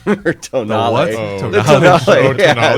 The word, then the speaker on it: Tonale: And why would you name a car that probably half the population can pronounce? Unless I'm the only one. Oh. Well, then there's the new Alfa Romeo Toenail. Or Tonale.